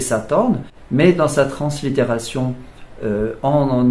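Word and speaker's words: สาทร: s'appellent sathorn en taille il s'écrit avec un air à la fin mais on ne peut pas le prononcer comme ça donc on va le prononcer sathorn mais dans sa translittération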